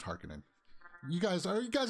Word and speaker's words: Harkonnen: to include much more harkening stuff harkonnen it's pronounced harkening you guys are you guys in the same boat with that with me uh for years you'd call it harkonnen and now it's hark in it but doom